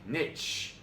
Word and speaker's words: niche: All right, 15, niche. While commonly pronounced niche, this word comes from the French word nicher, which means to nest. Accordingly, the correct pronunciation is niche.